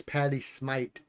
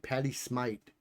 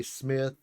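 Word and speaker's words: Patti Smith: heard her say it's Patty Smite. It's almost like the H is an E. Patty Smite. Um, but a lot of people say Smith or Smith or something like that.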